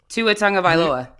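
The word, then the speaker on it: Tagovailoa: middle name too just his last name yeah Tu a Tong of aloa do you know his middle name no but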